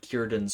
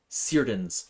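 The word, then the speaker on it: Círdan: I have heard anyone pronounce the card Kyan's ships as Seiran's ships. Um don't do that. That's not how it's pronounced. And you'll make Tolken cry.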